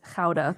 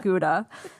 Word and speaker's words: Gouda: And I'll see Gouda on the shelf, and she's like, oh, no, that is Gouda. That is not Gouda.